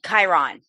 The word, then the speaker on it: Chiron: talking about I want to make sure I pronounce it properly. Chiron or Chiron? You got it. Chiron.